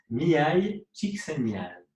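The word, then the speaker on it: Mihály Csíkszentmihályi: Parce que j'ai toujours rêvé de savoir le prononcer, mais j'y arrive pas. Ah, plus facilement, plus lentement. Mihai Csikszentmihalyi.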